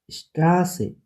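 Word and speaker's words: Straße: double S বা এস সেট থাকলে যে হেন সরি এসন এসন সর মত এসন এসন স্ট্রাসে স্ট্রাসে সর মত কিছু কনসোনেন্ট এর আগে ইস্ট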